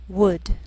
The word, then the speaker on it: would: Sometimes L can be silent, so you have to be careful.